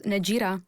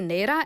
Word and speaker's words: Naira: So, I I really say Naira, and I try to make sure that people know how to pronounce it because I think it's important, right?